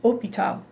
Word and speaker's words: hôpital: If you've ever had any French, you'll remember that the word hotel, for example, is pronounced hôtel, and the word hospital is pronounced hôpital.